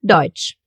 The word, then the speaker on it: Deutsch: And sometimes, just sometimes, the letter T will also join in the party. Then we will get a really special sound, the sound Ch. Like for example in Deutsch.